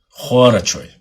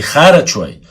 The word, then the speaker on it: Хорачой: Хорачой. Через О. Не харачой, а хорачой. О после Х. Правильно говорить так, чтобы вы знали.